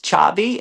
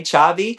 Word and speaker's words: Xavi: And then last month, the great Spanish activist, Chabi, and it's spelled Xavi, Chabi.